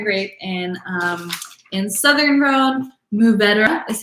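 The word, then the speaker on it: Mourvèdre: and in southern rome move better is how that grape is pronounced like moo like a cow says like swallow the d-r-u-h um or just more bedra um you can even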